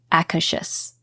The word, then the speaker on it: Akershus: I'm laughing because I did look up the pronunciation for this one, and it is indeed, it's like Akershus.